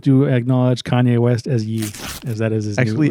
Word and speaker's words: Ye: It's Ye spelled Y-E.